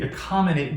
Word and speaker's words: accommodate: you have learned it you know that a tes on stress on the anti penultimate syllable right so that means it will be this will be the final final penultimate ante so it would be accommodate would receive primary stress right so just say